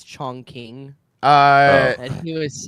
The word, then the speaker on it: Chongqing: place is real but he was mispronouncing it on purpose it's Chong King uh and he was